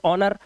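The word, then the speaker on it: honour: ऐसे ही ऑनर और यहां पर यह वर्ड है एकको।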